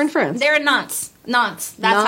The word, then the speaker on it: Nantes: Nantes. That's how it's said. yeah. Nantes. Sure. I think that's how I heard it pronounced before.